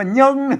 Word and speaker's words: เยิง: มัน มี ตัว ยะ นะ ครับ อ่าน ว่า เยิง เยิง เ่า มัน บ่ มี เยิง นะ ครับ